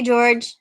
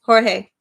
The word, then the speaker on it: Jorge: Hey, George. Or, I'm sorry, Jorge.